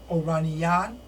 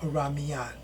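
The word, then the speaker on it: Oranmiyan: And his name was Oraniyan or Oramiyan. Most often it's pronounced Oramiyan.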